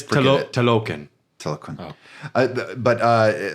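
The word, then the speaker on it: Talokan: Telecon? It's Telocan.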